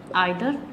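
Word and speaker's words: either: Each, आइदर एंड नाइदर। इसे ईदर या नीदर, इनका दोनों प्रोनाउंसिएशन सही है। ठीक है, इसे आइदर भी पढ़ सकते हैं और नाइदर भी।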